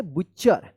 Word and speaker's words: butcher: बुच्चर पढ़ेंगे, क्या पढ़ेंगे, बुच्चर, क्या पढ़ेंगे, बुच्चर पढ़ेंगे। देखिए यहां पे जैसे BU से BTCHER बुच्चर, तो यहां पे टी जो है ना साइलेंट रहता है और CHER बुच्चर seats near द shop.